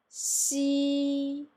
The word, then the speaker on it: xi: I would like to pronounce xi, xi.